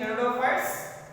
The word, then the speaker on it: Pteridophytes: Dear students, don't confuse are here Pteridophyta, but spelling are here Pteridophytes. Pteridophytes. So P is silent. P is silent. Pteridophytes. T before the P. P is silent. That is pteridophytes.